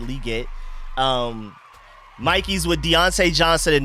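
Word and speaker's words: Legette: Like St. Juice is on Liget. That's how he likes to pronounce it. He said Liget.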